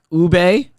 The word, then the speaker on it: ube: Ube, is that how you say it? Yeah.